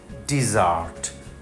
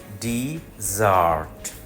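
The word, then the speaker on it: dessert: নাম ডিজার্ট মরুভূমি না সে কারণে ডেজার্ট বলা যাবে না শব্দটা ডিজার্ট ডিজার্ট ডিজার্ট মিনিট একটা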